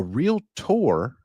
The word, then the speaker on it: Realtor: of of real estate agents right now a real Tour on the other hand real tour r e